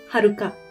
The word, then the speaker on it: Haruka: nama Hai Haruka nah Haruka seperti kalian lihat ini bacanya bukan waduk ah tapi Haruka oke nah yang lain misalnya